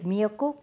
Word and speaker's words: 미역국: am going to make Seaweed soup It's called "miyeokguk" You know already there are many kinds of